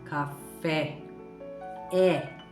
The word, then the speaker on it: café: Então vamos começar com uma palavra muito conhecida por todo o mundo, que é a palavra café. Tem que falar o E aberto.